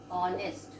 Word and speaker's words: honest: H is silent. So we are pronouncing here an honest boy. We don't say honest. We say honest.